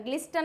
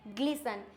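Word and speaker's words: glisten: हो जाएगा लिसन offer ग्लिसन क्या हो जाएगा ग्लिसन ग्लिस्टर नहीं होता है इट्स ग्लिसन नेक्स्ट आता है मैच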